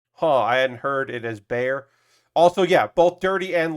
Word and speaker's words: Bexar: Okay, so Bexar is Bear, and Manor is Maynor.